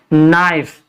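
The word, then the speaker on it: knife: इसको हम क्या करेंगे नाइस इसको कैसे पढ़ेंगे नाइफ इसके बाद है साइलेंट एल एम से पहले अगर एल आता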